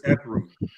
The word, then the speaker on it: Ethereum: It's Ethereum.